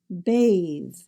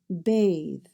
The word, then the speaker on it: bathe: You'll notice because there's an E at the end of the word in the English spelling, it changed that A to a capital A sound, bathe, rather than bath.